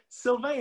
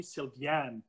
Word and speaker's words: Sylvain: And Sylvain is a little bit hard to pronounce in English. Often, and I'm glad because you did not call me Sylvian, because a lot of people around the world call me Sylvian. They just reverse the A and the I.